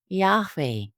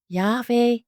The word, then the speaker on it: Yahweh: Today, scholars suggest that YHWH may have been pronounced as Yahweh, while others propose alternative renderings.